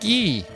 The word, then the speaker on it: Guy: You're that guy. His name's Guy, even though it's pronounced Gee.